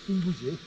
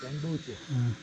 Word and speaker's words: Tengboche: ओह Actually, real name is Tingboche. तिम्बूचे. ओह People pronounce Tengboche.